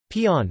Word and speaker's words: paean: Bucher pronounced pian as Pyeon.